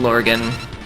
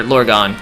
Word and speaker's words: Lorgon: Yeah, been watching Lorgan, or Lorgon, that's how it's pronounced.